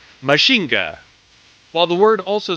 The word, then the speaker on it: Mazinger: Frankenstein once again and while it's spelled mainger it's deliberately trying to sound like mhinga while the word also